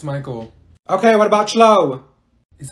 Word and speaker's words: Michael: Mikael. Ma'am, it's Michael.